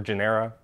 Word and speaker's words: genera: talking about is in different genuses or genera this is the correct way to say plural of genus uh but some are